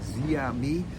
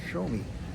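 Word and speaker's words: Xiaomi: It looks like Zia, but it's actually pronounced when you say it quickly. It's called Show Me, and that's a huge company out of Hong Kong.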